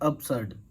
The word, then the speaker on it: absurd: देखिए, इसका प्रोनाउंसिएशन है अप्सर्ड।